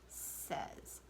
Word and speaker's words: says: a z' phase right like say or day or May but that's not how it's pronounced that's why it's tricky okay this is pronounced says she says she likes